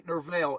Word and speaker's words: Nerval: The poet Gerard de Nerval, Gerard is spelled Gerard, and the middle is D-E, Nerval, Nerval, would later claim that Sophia had represented Isis.